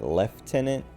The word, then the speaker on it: lieutenant: when you pronounce it lieutenant but um there's also like left tenant and that's also pronounced like not how it looks i can't remember if